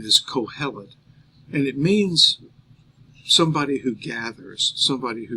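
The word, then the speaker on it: קהלת: here for a teacher uh in the Hebrew pronunciation is calet and it means somebody who gathers somebody who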